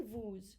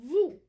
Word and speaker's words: vous: followed by this vowel we will make a liaison and we will pronounce it as a z now if i did